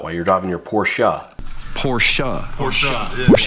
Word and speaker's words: Porsche: Porsche. Yeah, it's not pretentious. It's the right way to say it.